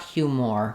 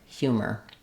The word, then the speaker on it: humor: So often letters O R at the end of words like major, scholar or humor just say the sound, not an or sound, not humor but humor.